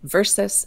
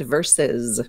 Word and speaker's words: versus: we don't say V we give two pronunciations for V rsus the preposition versus and versus so one has the The Voice verus the voiced cilant at the end this Z and the other one